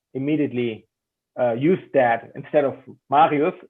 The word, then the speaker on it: Marius: pronounce my name, like the R sound in the middle, that Marius. Mm-hmm. They said like Marius, Mario, Super Mario, the running back, yeah.